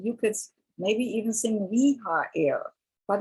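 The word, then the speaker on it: Rehael: So in an American, you would sound it differently, but the sound for Reha-el is that, like rehabilitation, same thing.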